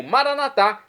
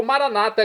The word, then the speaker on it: Maranata: e agora eu clamo maranat como dizemos nós católicos ou Maranata como dizem nossos irmãos separados os evangélicos ou protestantes não importa pronúncia o significado é o mesmo vinde Senhor Jesus